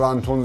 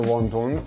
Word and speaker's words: وانتونز: کروش سمی با همدیگن به اسم ون تونز یا وانتونز هر تلفظی که شما دوست دارید منتشر نشه و میدونی